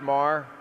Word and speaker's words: Maher: It's pronounced Mar.